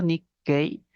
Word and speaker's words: Nikkei: Bueno, en japonés, cuando se escribe esa palabra, se utiliza este pequeño tsu. La idea es que luego de pronunciar ni, hay una pausa ahí. Y prefiguramos la consonante que va a continuar, en este caso la K, ¿no?